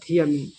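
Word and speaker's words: thiamine: होता है दोनों में उच्चारण दोनों का सेम ही होता है इसलिए ध्यान रखिएगा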